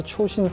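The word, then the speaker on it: Chosin: 이 초신이라고 하는 것은 장진호의 일본식 발음입니다. 그래서 이제 자신들이 그 뒤에 퓨라고 하는 것은 거의 없는, 매우 적은이라는 뜻이잖아요. 네. 결국은 그 혹독한 전쟁에서 살아남은 사람들을 표현하기 위해서 초신 퓨라고 하고 하는데, 그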